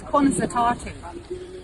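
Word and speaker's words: Conas atá tú: Okay, so in Irish it's Cunas Atatu. Cunas Atatu.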